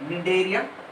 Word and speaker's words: Cnidaria: इसमें ना C silent है, C पढ़ने का नहीं, Cnidaria.